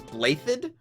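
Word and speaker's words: Blaiddyd: become a professor here they they pronounce his last name as bladed with a double D I think there's like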